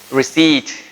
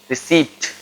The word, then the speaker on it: receipt: Receipt. Okay, it is not receipt. Receipt.